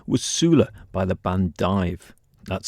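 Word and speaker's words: Daimh: Now, a great album from a couple of years ago was Sula by the band Dive. That's spelled D A I M H.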